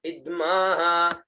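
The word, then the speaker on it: इध्मः: उसके बाद में आता है इद्म, दाज्यंग ग्रीक म, इद्म, ई आधा ध म और विसर्ग, है ना, इद्म, दाज्यंग ग्रीक म,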